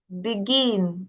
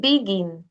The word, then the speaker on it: begin: Begin. Begin is not begin.